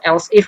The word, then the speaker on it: elif: Saya menambahkan el atau elif penulisannya elif ya, tapi sebenarnya bacanya itu else if gitu maksudnya.